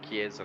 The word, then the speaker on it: Chiesa: I'm not going to pronounce his name wrong. Correct me, Davide Lozio. Yep, Davide Lozio. No. The Lamborghini. Chiesa.